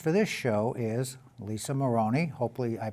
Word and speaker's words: Marrone: I'm your host, and our guest for this show is Lisa Marrone. Hopefully I pronounced that correctly.